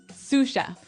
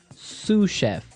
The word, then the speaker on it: sous chef: to our second word sous chef sous chef sous chef sous chef s-o-u-s so the s is silent because it's like a french word yeah something like that